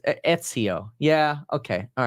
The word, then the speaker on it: Ezio: Yeah, people are saying Ezio. Oh, Ezio. I think that's how you pronounce it. It's Ezio.